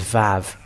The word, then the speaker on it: Vav: It is Vav. That's it. And when it is Vav, it is pronounced as V in Hebrew.